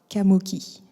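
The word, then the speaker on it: Qamoki: Kamoki.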